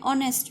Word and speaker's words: honest: example an are an honest man here the letter h is silent therefore we have a